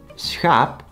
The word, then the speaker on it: schaap: The third one, schaap, consists out of one syllable and is written with a long vowel, so it has to be pronounced the long way.